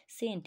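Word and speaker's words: scent: ও এম বি টম সি সাইলেন্ট থাকলে দেখো সেন্ট দেখো এস সি এন টি আমরা direct S ই এন টি কেও সেন্ট বলবো কিন্তু এখানে একটা সি চলে আসছে সি সাইলেন্ট তাই কি সেন্ট এস সি ই এন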